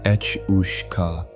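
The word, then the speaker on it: each-uisge: That's pronounced Ech Ush Ka, and if you can say that 3 times fast, congratulations, you've earned yourself a pint.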